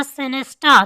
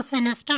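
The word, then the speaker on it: sinister: यू आर अ सिनेस्टा, तुम मनहूस हो। इसको सिनेस्टर नहीं बोलेंगे, सिनेस्टा। आर साइलेंट होगा, टी ए, सिनेस्टा।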